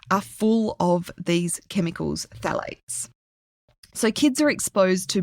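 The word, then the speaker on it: phthalates: And then we have phalates. Phalates is spelled P H T H A L A T E S. So it's a phalate.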